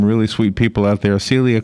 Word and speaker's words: Selia: Celia Qynn has already proven to me that she's one of them with her book.